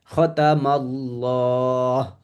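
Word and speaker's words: خَتَمَ اللَّهُ: খতামাল্লাহ।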